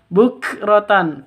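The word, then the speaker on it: بُكْرَةً: Bukratan, kafnya huruf hamas harus ada nafas yang keluar ketika sukun atau ketika dibaca.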